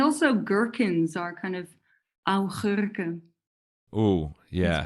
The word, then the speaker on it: augurken: And also gherkins are kind of augurken.